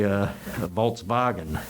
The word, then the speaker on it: Volkswagen: And he would correct me on the pronunciation. He would say, Volkswagen.